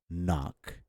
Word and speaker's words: knock: So the examples for this would be Knee, not knee, it's a knee, and knock, and gnarl.